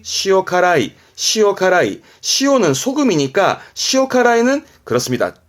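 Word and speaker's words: 塩辛い: 그래서 발음이 시오카라이, 시오카라이.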